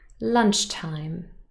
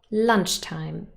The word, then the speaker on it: lunchtime: This word is stressed on the first syllable. True or false? Listen carefully. Lunchtime. Yes, that's true. Lunch is stressed. Lunchtime.